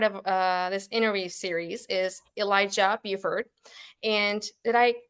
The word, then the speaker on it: Elijah Buford: And our first guest, as part of this interview series, is Elijah Buford. And did I pronounce it right, by the way?